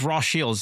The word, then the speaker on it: Rothschilds: It's Rothschilds. They're German. It's Rothschilds. It's not Rothschilds. This is how it's spelled, but that's not how it's pronounced.